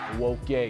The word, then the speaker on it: Nwoke: Nwoke is the true pronunciation. The N is silent, and nip that at the bud.